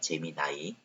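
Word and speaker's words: Gemini: 안 쓰고 재미 나이입니다 재미 나이 여기는 재미 니라고 돼 있는데 재미 나이로 발음해요네 근데 뭐 재미나 쓰신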